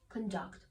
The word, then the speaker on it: conduct: which means somebody's behavior so conduct is a verb and distress is on second syllable conduct very good so maybe